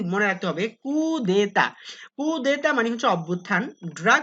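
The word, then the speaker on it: coup d'état: তারপর হচ্ছে কুদেতা, এটা পরীক্ষাতে প্রায় আসে, এটা উচ্চারণটা কি মনে রাখতে হবে, কুদেতা।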